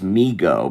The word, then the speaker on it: Mego: m e g o migo to the toy store so that's why it is Migo not mego cuz I was pronouncing it may go for a long time